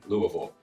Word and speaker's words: Louisville: is louisville kentucky louisville say it right it's not louisville it's not louisville either we say louisville you'll get it if